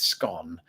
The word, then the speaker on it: scone: And then I pointed them to the first word in their sentence, which was the word one does indeed rhyme with scone.